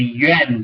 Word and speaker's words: Yuan: in ancient times you'll be aware of the yuan dynasty that's spelled y u a n the yuan dynasty